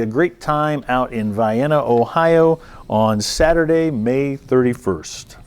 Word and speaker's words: Vienna: That's not Vienna, Ohio. It's Vienna, Ohio.